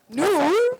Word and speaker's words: नूर: Noor.